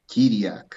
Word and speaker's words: Chiriac: Yeah, in Romania, Chiriac is Chiriac. Oh, Chiriac. So you don't pronounce the H.